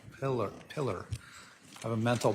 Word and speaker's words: Pilla: Polar. Detective Polar uh on I always say your name wrong. Pillar.